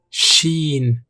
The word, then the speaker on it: شين: Pronounced Nafs. Nafs. حرف الشين Sheen.